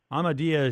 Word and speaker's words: Ahmadiyya: in my mind is the amadia jamat um which keeps in my mind is that the proper way to say it yes absolutely we to be a Muslim